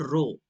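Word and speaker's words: rho: और इसे हम लोग डिनोट करते हैं रो से। This is called रो। This is called रो। Okay, इस तरह आप इसको प्रोनाउंस करेंगे।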